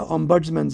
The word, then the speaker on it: ombudsman: So Ombudsman is Om as in Om, buds, Okay. buds as in flower buds, BUDS, man as in man woman, Okay. Ombudsman.